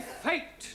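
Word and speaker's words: fete: then what do we have fatty no Giovani fate now does anybody know what the word fate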